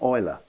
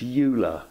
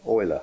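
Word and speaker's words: Euler: of all this was the Swiss mathematician lot Oiler pronounced ula in the imitation game but Oiler is the correct pronunciation and that value 1769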